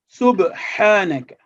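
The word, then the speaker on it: سُبْحَانَكَ: The second example is we make qalqala when pronouncing sakin ba. Subhanaka. See over here, subhanaka would be wrong.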